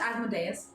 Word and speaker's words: Asmodeus: It's And pronounced Asmodeus.